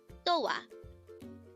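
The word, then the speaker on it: 도와: So that is do o wa. And do o wa is actually just dowa. The o and a sound combination becomes the wa syllable.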